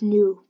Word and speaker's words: nous: So the first, so here, it's vie, but in French, it's nous. But the last letter, the S is silent.